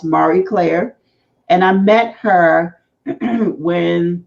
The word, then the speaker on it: Marie Claire: Claire but as pretty as French so it's pronounced Marie Claire and I met her when before she left